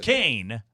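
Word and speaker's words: Koehn: Cohen pronounced Kane.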